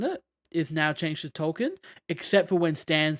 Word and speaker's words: Tolkien: been calling Tolkien because his name is Tolkien, like J.R.R. Tolkien. Yep. Yeah. And he was named after Tolkien, and it's just been revealed that Stan's been calling him Token, as in the token.